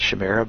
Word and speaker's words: Chimera: and lastly Sergeant uh Chimera some some call it Shamira but Chimera is how I pronounce it um and has standard